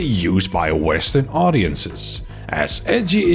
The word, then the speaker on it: ecchi: by Western audiences as edgy is just the Japanese pronunciation of the letter H A which stands for